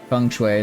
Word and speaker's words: feng shui: Feng Shui is the Mandarin pronunciation, and good on America for once.